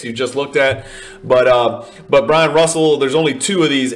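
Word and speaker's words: Bryon Russell: Next in line is our Brian Russell. People mispronounce this Byron because of the way he spells it, but his name is actually Brian Russell.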